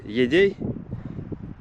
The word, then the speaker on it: Едяй: Поселок по-русски говорится Едей. Да, а по-якутски пишется Йодей.